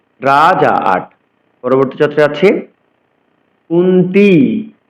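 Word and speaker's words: কুন্তী: রাজা পরবর্তী চত্র যাচ্ছি কুন্তি কুন্তিতি বলতে হবে দীর্ঘকার রয়েছে অর্থাৎ দীর্ঘকার রয়েছে আমাদের দীর্ঘস্বর উচ্চারণ করতে হবে কুন্তি পুত্র তাও দীর্ঘ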